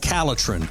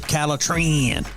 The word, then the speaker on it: Caletrin: you need is called caletrin or you can pronounce it calatran very easy for you